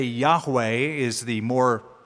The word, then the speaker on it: Yahweh: So Jehovah is the old pronunciation. We would say Yahweh is the more correct Hebrew translation.